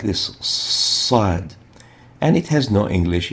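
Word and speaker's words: صاد: and the name we call this letter is sad sad to know how to differentiate the sod from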